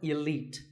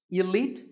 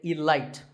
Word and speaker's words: elite: 48 is the word elite actually there are two correct pronunciations elite and elite both are okay but just don't say alight there's no light in elite now if you keep